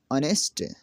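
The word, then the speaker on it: honest: आवर घंटा, honour इज़्ज़त, ऑनेस्ट ईमानदार, 10 इस तरह।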